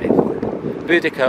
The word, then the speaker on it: Boudicca: burnt it down well you can pronounce either way Boudicca or bodacia and if you want